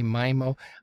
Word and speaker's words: MIMO: well most people say my mo I like to say me mo it sounds cooler like Finding Nemo what it is is